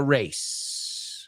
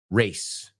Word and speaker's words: race: can go to the race. All right. So, uh, the first word, how do you say it? Race. Race. Right. It's an s sound. It also rhymes with lace.